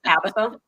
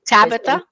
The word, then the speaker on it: Tabitha: is killing me but my name is pronounced Tabitha I have all the A's right Tabitha Tabitha thank you Tabitha